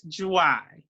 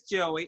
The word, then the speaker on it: Joie: It's Joie. Joie. Did I say it right? Joie. It's Joie. And Okay. everybody says Joey. It's okay if you say Joey.